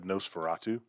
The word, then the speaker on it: NOS4A2: And then I read Nosferatu. It's but the one by Joe Hill that's spelled NOS4A2, which looks like a license plate on the cover.